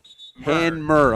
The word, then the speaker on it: Hanmer: Is it Henmer or Hemner? Hanmer. Okay, it's the N before the M. It's the opposite of the alphabet.